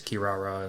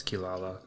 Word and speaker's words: Kirara: So, yeah, in the Japanese, it's Kirara, and American, it's Kilala. I'm assuming that's what it is where they translated it or they spoke it as they see it and not how you would actually pronunciate it in English, I guess.